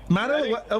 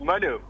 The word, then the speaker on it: Manu: Yeah, you're saying my name wrong, too. It's Manu. Manu? Yeah, Kelly's spelling. Kelly's spelling. Manu, I can only apologise. That's all right. It's like the football team.